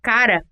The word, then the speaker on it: cara: da janela acentual e a palavra cara é paroxítona ou seja a sílaba tônica ra é a segunda sílaba da palavra chamo a atenção do